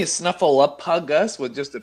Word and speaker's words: Snuffleupagus: Snuffleupagus. Oh Jesus. Snuffle up a Gus.